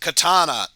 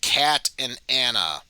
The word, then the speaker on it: katana: you hear that warrior where it's pronounced katana not cat and anna katana it's katana katana like it should be katana and of course the